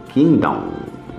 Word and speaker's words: kingdom: E se lê kingdom, não se lê o G do king, tá? Então é kingdom.